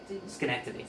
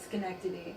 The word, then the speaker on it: Schenectady: How do you pronounce that town in New York? Which one? Schenectady. Schenectady.